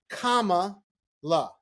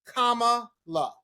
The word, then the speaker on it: Kamala: who needs to know, it is Kamala. Oh, we going? Let's. I'm just saying. People like, how do you say her name? She said it's like Kamala. So Kamala. So if you need to correct anybody, Kamala, none of that crap. It's Kamala.